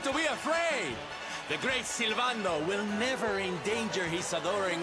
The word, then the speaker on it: Sylvando: Prepare yourselves for the Great Sylvando! Sylvando is how you pronounce that.